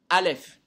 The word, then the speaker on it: Aleph: Aleph. On voit la lettre Aleph. Mais on prononce des lettres après le A. On prononce Lef.